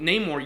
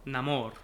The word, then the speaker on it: Namor: Amor means love and so he makes his name no Amor or Namor and when we pronounce it it would be Neymar okay so very cool